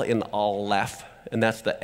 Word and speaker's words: Aleph: letter Aleph but you hear the L in all left and that's the F so here's how you